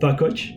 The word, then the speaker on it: Vakoc: everybody your name again first and last bakkoch and the last name is spelled v-a-k-o-c hey thanks for listening i hope